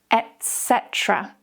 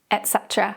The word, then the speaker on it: etc.: There's no ek. It's not etc. etc. Again, I'm guilty as well of saying etc. Sometimes it still slips out now. So in the sentence, I need bread, milk, cheese, etc. And we also never read this as etc. So we never say, I need bread, milk, cheese, etc. No, we write it as etc, but we always say etc.